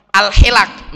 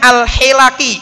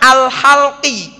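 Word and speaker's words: الحِلَق: Alaihi Wasallam melarang al-hilak, bacanya al-hilak, perkumpulan manusia di masjid sebelum salat Jumat. Kenapa? Karena bisa mengganggu aktivitas kaum muslimin yang sedang beribadah. Bacanya al-hilaki, haknya kasroh, lamnya fathah. Ada seorang ulama bacanya keliru, dibaca al-halqi, haknya difathahkan, lamnya disukunkan. Helaki dibaca halqi, harokatnya berbeda.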